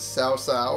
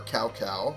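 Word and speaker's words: Cao Cao: all that's left is sao sao or cow cow however you want to pronounce it i i'll keep doing it sao sao because i feel that's correct and soon the student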